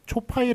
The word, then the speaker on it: 초파일: 초파일 할 때는 이렇게 초파일, 파로 읽는 것을 맞겠습니다. 뒤에 게 맞습니다.